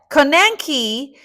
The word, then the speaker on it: konenki: It's spelled k o n e n k i. Here's the phonetic. Ko nen ki. Ko nenki.